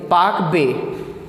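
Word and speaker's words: Palk Bay: पाक बे, यानी ये पाकिस्तान वाला पाक नहीं है, PAL के पाक, L साइलेंट हो जाता है।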